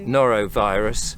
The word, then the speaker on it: Norovirus: Noro. Norovirus. Think Zorro.